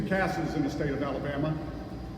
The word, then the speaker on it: CASA: And although some of you may have no idea what a CASA is, and yes, it is pronounced CASA, not CASA.